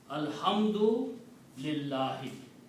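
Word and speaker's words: الحمد لله: Now again, if I stop here, then I'm going to say Alhamdu lillah. I'm not going to pronounce the last letter here, the harakat on the last letter. Okay. But if you are reading in a continuous way, there is other words after that, then you have to pronounce the last letter. If you stop here, you will say Alhamdu only.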